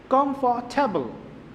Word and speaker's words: comfortable: In this case, if after R there is consonant come, so we will not pronounce the letter R. So we will pronounce comfortable.